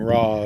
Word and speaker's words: Raz: I'm Roz. Yeah, it's got 2 syllables now.